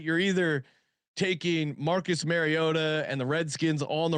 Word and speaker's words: Mariota: and he he says Mariota, or at least that's how I hear it. So Mariota. Mariota. Mariota. He As long as you say Mario, you'll get it right.